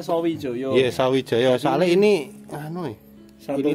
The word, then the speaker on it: Sawijaya: Kan bacanya Sawijoyo.